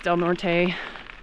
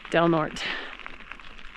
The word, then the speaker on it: Del Norte: Not pronounced Del Norte. It's pronounced Del Norte. That's one thing about the Coloradans, or these Colorado towns, is a lot of Spanish names, but they're not pronounced the way the Spanish would pronounce them.